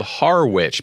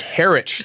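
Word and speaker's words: Harwich: you know it's like it's spelled harwitch but it's pronounced herit so it's always like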